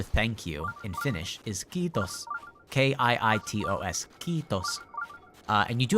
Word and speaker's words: kiitos: The word for thank you in Finnish is kiitos. K-I-I-T-O-S. Kiitos. And you do have to pronounce it a little bit longer, yeah. So the I is pronounced like E.